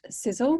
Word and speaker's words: Sisel: was founded in 2006 its name is pronounced sizzle which stands for science